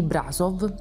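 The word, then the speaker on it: Brașov: invito a pranzo alcuni mercanti nella città di brasov nostro si pronuncia così raga facendo di banchettare con il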